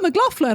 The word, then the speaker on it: McLaughlin: know that Americans, and they were like, oh, McLaughlin. I'm like, no, McLaughlin. McLaughlin. So it's a good Scotch-Irish name, and I feel like it should be pronounced correctly.